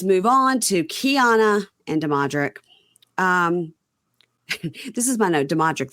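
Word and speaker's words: Damodrick: No, so there's no N. D-A-M-O. Demodrick. Demodrick.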